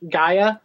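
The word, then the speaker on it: Gaea: again you book up it's spelled GA EA Gaia guia girls if you just search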